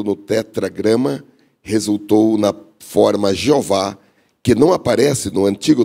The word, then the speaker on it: Jeová: Jeová ou Javé.